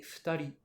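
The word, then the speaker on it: 二人: quatre personnes, cinq personnes, on va avoir une particularité de prononciation sur les deux premiers. En fait, on va lire tout ça en purement japonais. Ce sera hitori et futari.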